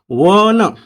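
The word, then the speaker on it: one: मित्रांनो तो शब्द वाचताना त्याचा उच्चार प्रोनन्सिएशन लक्षात घ्या वन वन महा व आहे आणि व म्हणजे इंग्रजीतवी किंवा डब्ल असतो महावी आणि डल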